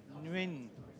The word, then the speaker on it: Nguyen: and Johnny Vu and Jimmy Nguyen. Did I say that right? Jimmy Ng. Yun? And Win? Oh, okay, Win.